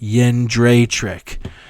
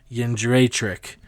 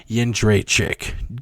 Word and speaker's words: Jędrzejczyk: Apparently it's Joanna Jędrzejczyk. So like a Japanese yen, Dre, like Dr. Dre, and then like trick, like trick or treat, Jędrzejczyk.